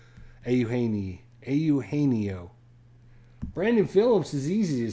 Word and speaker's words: Eugenio: You're right. 5 syllables. That did help. I did. It's one of those names you can see it, and when you see it spelled, it's pronounced differently, so it messes you up. But yeah, I've watched some Reds games, so I knew Eugenio.